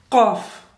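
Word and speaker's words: ق: root of the tongue from the root of the tongue and of course this one is full mouth heavy and this one is light okay let's start off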